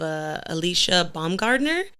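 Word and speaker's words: Alycia Baumgardner: but I am a really big fan of Alicia Baumgardner.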